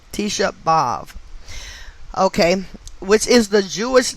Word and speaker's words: Tisha B'Av: with the gematria of tisha bob and that is spelled t i s h a b apostrophe capital a v t shabbov okay which is the jewish name for the